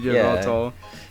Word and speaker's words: Yveltal: And I have like all those mystery gifts, and I think it was a shiny Vettel, right? Yeah, it was a shiny level 100 Yveltal.